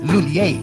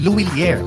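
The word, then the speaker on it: Lhuillier: English speakers commonly pronounce it as Lulier. But for Filipinos, mas madaling ibigkas ang Luilier.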